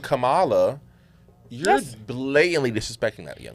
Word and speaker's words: Kamala: They don't know how to pronounce her name. That's actually getting on my nerves. Her name is Kamala, that's it.